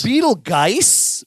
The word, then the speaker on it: Betelgeuse: the juice, but like it's really spelled Betelgeuse but pronounced juice.